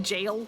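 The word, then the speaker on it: gaol: me to learn that g o l a is just jail and not like go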